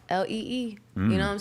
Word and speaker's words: Leigh: Lee Jeans, Lee.